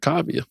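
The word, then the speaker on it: Kaavia: So we put it together and added an extra A so people can pronounce it, right? And there you got Kavya.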